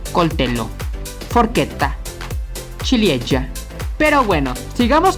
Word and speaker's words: coltello: Cucchiaio, coltello, recuerda, es doble consonante, aunque en español la doble L se lea como una Y, en italiano no sucede así que se dice coltello.